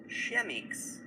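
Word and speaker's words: Chemex: Chemix.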